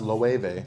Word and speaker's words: Loewe: Yes, it's pronounced Loewe.